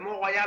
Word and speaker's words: Mont Royal: Le Mont Royal en plein milieu de la ville avec une croix.